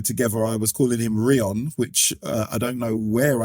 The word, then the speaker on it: Rion: Yeah, a lot of some of my friends used to call me Rion or Rion or all sorts of fun pronunciations because it's R-I-O-N.